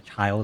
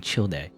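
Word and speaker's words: Childe: you know or a child or whatever i keep saying his name wrong i'm so used to saying chill day but there you go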